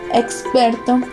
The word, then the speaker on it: experto: La X a menudo se pronuncia simplemente como S, especialmente ante consonantes como en experto, expert, pero también en otros contextos como en auxilio, auxilio.